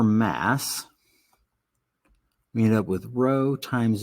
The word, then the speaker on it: rho: It's spelled RHO, pronounced rho.